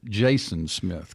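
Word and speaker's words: Jasn Smith: So before we get into talking about Aloha China, I wanted your name is spelled J A S N Smith, but it's pronounced Jason Smith.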